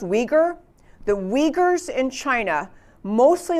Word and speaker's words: Uyghur: ethnic population in china it starts with a you but it's pronounced uyghur the uyghurs in china